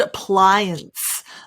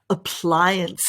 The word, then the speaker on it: appliance: are you ready so we've got the word appliance appliance and the way to pronounce this is ply ply apply and apply